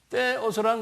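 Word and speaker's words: θεός: 그 다음에 여기 이 동그라미에다 이렇게 가운데 줄근 게 이게 TH 발음이에요. 그래서 이거 테오스라는 거는 하나님이란 소리.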